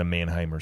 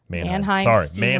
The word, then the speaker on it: Mannheim Steamroller: So I think of myself as Dwight listening to Mannheimer Steamroll. Mannheimer? Why do I say it wrong? Mannheim Steamroller. Mannheim Steamroller.